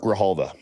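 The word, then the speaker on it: Grijalva: It's got to be a silent J though. It's uh it's Spanish. Graalva. We're going with Grahalva.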